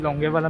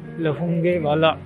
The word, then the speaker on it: Longewala: तो हम लोग अभी लोंगेवाला म्यूज़ियम आ चुके हैं। इट is actually pronounced as लोंगेवाला युद्ध स्थल, LAUNGEWALA। काफ़ी लोग इसको लोंगे वाला भी बोलते हैं और यहाँ पे इसकी कुछ इन्फॉर्मेशन दी गई है।